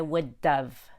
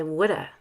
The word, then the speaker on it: would have: really fast would have notice the d in wood is a fast d you don't need to have a lot of tongue pressure to make that d it's super light a fluttering tongue i would have not i would dove that's too much d just would have he would have died if the shark had been real sometimes we dropped the v and say woulda noticed the use of